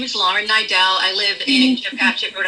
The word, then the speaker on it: Niedel: You actually pronounced it correctly, which is a first. It is Nidell.